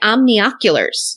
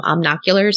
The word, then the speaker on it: omnioculars: My brain always skips the N-I syllable and just calls them omnoculars, but whatever.